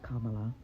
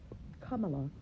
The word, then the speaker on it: Kamala: funny how Kamala only cared about the country when she was running for president, and It's Kamala. Kamala, it's not that hard to pronounce, and we know how you voted, since you can't pronounce a simple name.